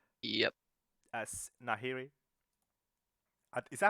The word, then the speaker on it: Nahiri: As Nahiri. Is that how you pronounce the name? Sounds alright. Sure. I think it's Nahiri, yeah. It is, yeah.